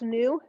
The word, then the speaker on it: nu: also a greek letter it looks like an italicized v in greek it's pronounced new so it's not a v it's a greek letter